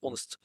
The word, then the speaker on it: honest: انت هنا قبل ذات جبت لي honest man، وهو جايبها لك عشان يخدعك بوجود كلمة honest. انت بتقول honest مش honest، بننطق حرف الاو.